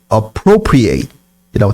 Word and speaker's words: appropriate: 동사로 하면 잘 몰라요 동사로 하면 발음이 appropriate이라고 됩니다 여기 나오지 여기 appropriate